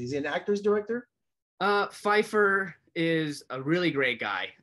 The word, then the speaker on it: Pfeiffer: Pfeiffer. Yeah, tell me about him and his style, and how was he on the set? What kind of director was he? Is he an actor's director? Pfeiffer is a really great guy, and he had